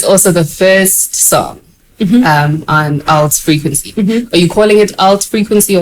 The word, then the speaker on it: ALT.FRQNC: Either or, it's the same. But what did you intend? I mean, it's ALT.FRQNC, but ALT is an abbreviation for alternative. So yeah, frequency again is spelt without the E's and U. So it's an abbreviation, but it means alternative frequency.